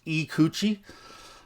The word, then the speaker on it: Ikuchi: Now, I think it is pronounced Ikuchi, and I pronounce it Ikuchi. Potato, but if you look on the Spyderco website, it is pronounced Ikuchi.